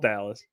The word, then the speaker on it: Dallas: It's not Dallas, right? Is it? Maybe it's spelled Dallas. No, it would be an E at the end if it was DeLease. It's Dallas.